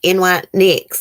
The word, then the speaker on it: NYX: I guess if I don't, NYX, that's how you say it, Susan.